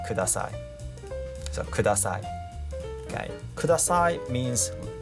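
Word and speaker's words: ください: So it's not Kudasai, okay? There is no stress.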